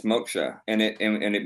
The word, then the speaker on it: moksha: in in ancient Sanskrit called Moka M more or less you could spell it m o k ha but of course it's phonetic because it's not written in our language but um ancient Sanskrit